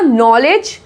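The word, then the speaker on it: knowledge: इसमें कनॉलेज नहीं बोलते हैं ना, कनॉलेज बोलते हैं नहीं, के साइलेंट है, इसको बोला जाएगा नॉलेज।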